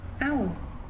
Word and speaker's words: Ahú: A-H-U com acento. AU.